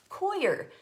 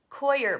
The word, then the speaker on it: coir: Coir, pronounced Coir. No, they said it was foyer, like pronounced like foyer.